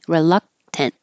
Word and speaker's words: reluctant: very very reluctant and this means don't say the K reluct just hold the K reluctant unaware the stress is